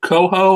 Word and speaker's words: Coho: He is Coho. I do believe I pronounced that right. Yep, you got it.